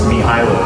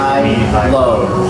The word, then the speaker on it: Mihailo: Well, it's close to that. It's Mihailo, so there's a little trick. Mihailo.